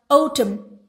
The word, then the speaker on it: autumn: Then we have autumn. Autumn. M. Autumn. N is silent.